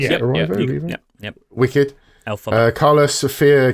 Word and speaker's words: Erivo: So Leading actress, Cynthia Erivo. Is that how you pronounce it? Yep, Erivo?